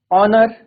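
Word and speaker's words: honour: जैसे हम बोले ठीक है हमने कोई वर्ड बोला ऑनेस्ट ठीक है और ऑनर आर तो इसमें क्या है हमारा एच साइलेंट है ओ से साउंड जनरेट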